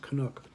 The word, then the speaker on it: Canuck: That's how it's pronounced, Canuck.